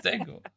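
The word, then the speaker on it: Django: Shockingly, the J is silent, yeah, it's Dango.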